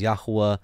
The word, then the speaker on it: Yahweh: So, was it Yahweh, Satan, or man? By the way, and just in case you may not know, Yod-Heh-Vav-Heh, it's the Tetragrammaton. We understand the correct pronunciation is Yahweh.